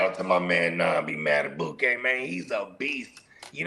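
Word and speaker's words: Madubuike: You know, I rock with Justin Matabuk.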